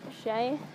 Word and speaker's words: Chez: First off, it's pronounced Shay.